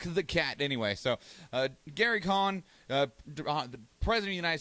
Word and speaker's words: Cohn: Because my brain keeps on confusing it with Trump's attorney, Michael Cohen, which just has an extra E in there. Anyway, right, but this doesn't have an E. This would be pronounced Cohn.